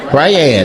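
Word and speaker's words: Brayad: Brad. Brad. B R A Y A D. Then why you say it like that? Is this Brad? Briad. My name is Briad.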